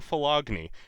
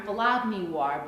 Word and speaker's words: Philogynoir: See, that's what I thought, but you keep pronouncing it wrong. A philogynist is someone who admires women, so yes, you could tack noir on there to mean black women, but you keep saying phylogeny.